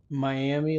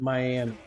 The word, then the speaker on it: Miami: know that it is it's supposed to be pronounced May with an eye on the end of it supposed to be up